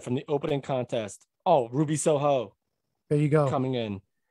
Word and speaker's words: Ruby Soho: So people calling her Ruby, they're putting the wrong emphasis on the wrong syllable. Kills me. She's Ruby Soho. Like, that's the Rancid song.